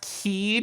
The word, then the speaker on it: Quay: cool and smart uh Quay is pronounced key don't ask me why I hate language language